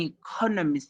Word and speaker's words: economist: Smith is an economist. You emphasize on that because it's a new information. There are 4 syllables in economist with the stress on the second syllable con.